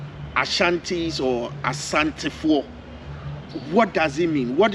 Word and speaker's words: Asante: The word Asante, it is often pronounced Ashanti, but the people themselves call themselves Asante. Asante because it is a Twi word.